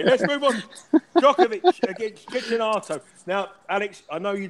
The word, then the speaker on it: Cecchinato: Djokovic against Cecchinato. Now, Alex, I know you don't like my pronunciation. How do you pronounce this? Cecchinato.